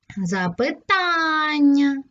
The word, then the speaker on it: запитання: ж на другий склад запитання тут на третій склад помилка на перший склад